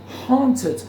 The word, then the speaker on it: haunted: assombrava Haunted Haunted tá Haunted aqui o a é uma Silent letter então Haunted him ou